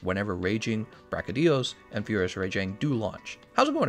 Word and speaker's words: Rajang: So about one more week, we're going to be picking up a fight against Raging Brachydios and Furious Rajang.